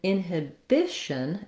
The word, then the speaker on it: inhibition: different syllable stress pattern so in inhibition it's the bi bish syllable that gets the stress which means even though